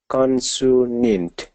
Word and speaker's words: consonant: illustration illustration good consant consonant okay instead of su do sa so consonant consonant MH consonant